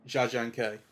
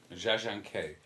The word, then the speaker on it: Jia Zhangke: Well, I mean, what it made me feel is the how do you pronounce the director's name? Jia Zhangke. Jia Zhangke.